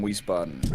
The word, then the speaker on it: Wiesbaden: yeah my grandma's from Wiesbaden these spots these bad not wheeze these buttons I know you guys pronounce the W like a V yeah that's exactly I've